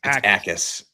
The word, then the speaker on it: Akis: Mason Thomas, Zion Young, and then Gabe Akis, which is spelled like it almost looks like Jackass. It's not. Yes, Jackass. It does. It's Akis, which is a weird way to pronounce it.